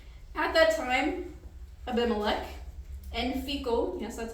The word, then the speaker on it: Phicol: At that time, Abimelech and Phicol, yes, that's how you pronounce his name, the commander of his army, said to Abraham, God is with you in all that you do.